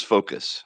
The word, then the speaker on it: Fokoos: i was butchering that i was saying focus or focus i wasn't quite sure how to pronounce it but it is focus i believe yeah i